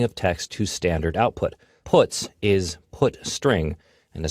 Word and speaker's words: puts: are the most popular they are pronounced print F put car and puts each function is designed to